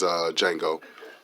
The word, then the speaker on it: Django: And this is Django. The D is silent.